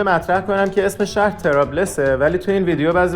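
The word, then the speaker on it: طرابلس: اومده توی انگلیسی شده تریپولی و توی عربی چون پ نداشتن اول شده تریبولیس و بعد در مرور زمان شده ترابلس ولی حتی هنوزم بعضی جاها می‌بینین که نوشتن تریبولیس به خاطر همین توی تلفظ صحیح اسم شهر یکم توی سفر گیج شده بودم.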